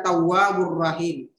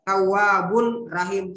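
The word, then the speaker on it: تواب رحيم: Karena ada dammatain bertemu dengan huruf ra dan cara membaca itu tidak berdengun. Cara baca bagaimana itu seolah-olah mau disebut ini huruf ra. Tawwabur rahim. Jadi tawwab tidak dibaca tawwabun rahim, salah ya.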